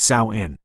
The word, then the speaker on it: Samhain: The chilling Genesis, Sawin, Lord of the Dead. The true beginning of what is now called Halloween is not harmless fun, but the ancient Celtic festival of Sin, pronounced Saoin.